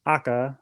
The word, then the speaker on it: AKA: tires and aka means akka or it's pronounced akka in japanese that means red and kyo shows red